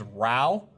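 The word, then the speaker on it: raow: The word we say to each other a lot is row. R-A-O-W is how we spell it.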